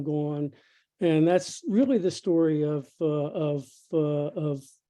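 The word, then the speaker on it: STQRY: of a company called story stq that's not misspelling by the way s-t-q-r-y they pronounce it story and it's a cute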